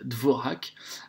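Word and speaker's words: Dvořák: vous le voyez ici par dvorjak alors ça s'écrit de vos raquettes certaines personnes qui disent dvorak néanmoins on l'entend souvent dvorjak parce que c'est un nom aux des pays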